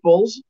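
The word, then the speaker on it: Yeaples: We officially have the Yeeples. You might know them as the Yeeples, as their name is, you know, phonetically pronounced.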